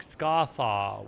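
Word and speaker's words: Scathach: So, Scathatch would be pronounced something like Scarth with a Okay, Scarth with a bit of roughness at the end. Scarth, similar to how Ahmed is pronounced Ahmed. Scar. Okay, thanks. Scach.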